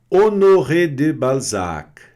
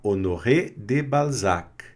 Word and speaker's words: Honoré de Balzac: Honoré de Balzac. Também tem esse Czinho mudo aqui no final, tá? Honoré de Balzac, certo?